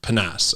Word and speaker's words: PNAS: National Academy of Sciences, in PNAS, I think is the how you pronounce sort of the acronym for it. And this article really looked